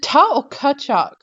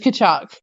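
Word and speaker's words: Tkachuk: Is it Ta or Kachuk? Kachuk. Just Kachuk. It's just Kachuk.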